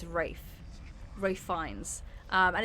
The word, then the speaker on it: Ralph: go yeah that's it because it's spelled Ralph but you don't say it as Ralph it's Rafe Ray fines um and